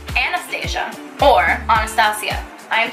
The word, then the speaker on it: Anastasia: princess from Russia or if you think it's aa Nastasia which is how you pronounce the woman's godforsaken name oh this is a